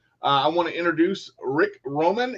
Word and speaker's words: Vroman: I want to introduce Rick Vroman. Yes, it is Roman, but the V is silent.